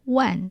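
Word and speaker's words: 卍: L'intérieur du plat est plaqué de lamelles de plaquage de bambou et gravé de Qing, le carillon, de swastika qui se prononce Wan en chinois, signifiant 10 000.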